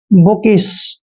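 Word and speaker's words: bookish: बी का उच्चारण हमेशा बै करते हैं, डबल ओ को हमने ऊ की मात्रा पढ़ना है और के का उच्चारण कै करते हैं, आई को ई की मात्रा पढ़ना है, एस एच को श पढ़ते हैं।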